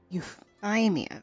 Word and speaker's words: Euthymia: plan of euthymia anyway you ima that's how you pronounce it is the vision and